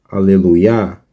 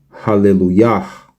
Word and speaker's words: Hallelujah: Ou seja, a pronúncia não é Aleluia, e sim Hallelujah.